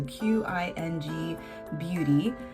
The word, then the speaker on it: Qing Beauty: But I picked this up from Qing Beauty, and that's spelled with a Q. So Qing Beauty.